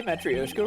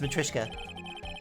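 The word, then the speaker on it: matryoshka: ] Miss pronunciations wait did I say matrioska wrong it's matrika matrika oh wow oh I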